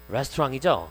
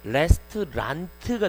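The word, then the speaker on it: restaurant: 예를 들어서 식당이란 단어는 레스토랑이죠. 근데 철자를 생각해 보세요. 이걸 영국어로 하면 레스토랑트가 될 겁니다. 근데 그렇게 발음하지고 레스토랑 이라고 발음하죠.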